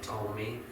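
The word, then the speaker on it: Ptolemy: the north its holiday that spelled PE T vol II and like told me the P is silent ruled the south chasidy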